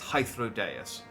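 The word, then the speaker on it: Hythlodaeus: and it throws me I keep thinking it's h hodus but it's hyrus uh who we didn't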